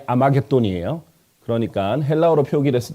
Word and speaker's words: 아마겟돈: 그래서 사실은 이 히브리어 하르메기도를 헬라어식 발음이 아마겟돈이에요.